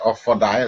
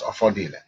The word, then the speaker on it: Offodile: getting the picture and the uh pronunciation from this machine correctly it says offer di but anywhere you that offer dial is repeated please bear in mind that is offer deal so we continue Shi